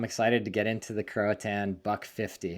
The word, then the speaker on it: Croatan: I'm excited to get into the Croatan Buck 50. Am I saying it correctly? You are. A lot of people say Croatian Buck 50, but I think they do that just to make me mad.